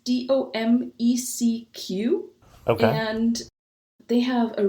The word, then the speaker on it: Domecq: name because I have no idea how to pronounce it. It's called Domecq. It's Domecq.